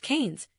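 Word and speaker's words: Keynes: Canian economics named after the economist John Maynard Kanes pronounced Canes.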